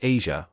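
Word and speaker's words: Eja: Their son, Asia, pronounced Asia, was born on August 12th, 2001.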